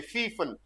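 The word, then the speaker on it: gepfiffen: Gryphon गे रीफन, लाइडन गे Lytton, फाइफन गे फीफन, देखो पी तो silent रहता है, ये फीफन।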